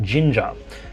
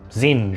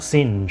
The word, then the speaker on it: Singe: Singe, and in the audiobooks, Mark Thompson pronounced it Ginger. So everyone started calling him Warlord Ginger when it was supposed to be sort of Zinge or Singe or something like that.